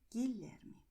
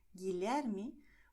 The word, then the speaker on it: Guilherme: And in GUE, GUI, the letter U is silent, so it's going to be written but not pronounced.